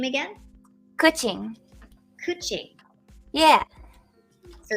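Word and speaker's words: Qiqi: Kuching.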